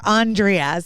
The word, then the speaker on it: Andrea: is it andrea or andreas so i am pronouncing first one it's andrea okay i thought so